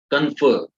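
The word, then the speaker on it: confer: कन्फर, कन्फर, ट्राई टू यूज the word, pronunciation करके देखिए, इसको प्रोनाउंस कीजिए। कन्फर, इट्स नॉट कन्फर, फर नहीं है ये, कन्फर।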